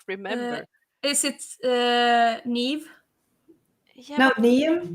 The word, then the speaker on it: Niamh: right but i did not remember is it nev yeah no me name me how they pronounce it maybe it was i i don't